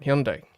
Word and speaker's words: Hyundai: I need to keep pronouncing this right. Hyundai.